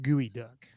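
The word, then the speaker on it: geoduck: that true howard he says geo duck is pronounced gooey duck howard we never know with howard he's always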